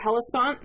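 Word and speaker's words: Hellespont: and i'll probably i'm sorry if i totally mispronounced the name of this word but is it helispont yes okay um yeah i like that i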